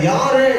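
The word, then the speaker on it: יָרֵא: அந்த யாரே என்கிற ஒரு வார்த்தை தெய்வ பயத்தை குறிக்கிற ஒரு வார்த்தை. பயத்துக்கு யாரே, YARE, யாரே. Phonetic ஸ்பெல்லிங்ல YAWRAY. இது பொனட்டிக் ஸ்பெல்லிங் சொல்லுவாங்க. அதை எப்படி உச்சரிப்புல சொல்லும் போது யாரே அப்படின்னு சொல்லுவாங்க. பயம், தேவ பயம்.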